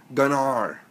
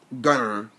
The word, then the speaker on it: Gunnar: And look at our team mascot, Gunnar. It's not Gunner. There's two different ways to spell our team mascot's name. Everyone calls him Gunner. Gunner is spelled G-U-N-N-E-R. His real name is G-U-N-N-A-R. Gunnar.